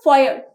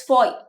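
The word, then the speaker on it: foyer: is known as fo it's not fo uh our is silent over here it's Foy so we enter the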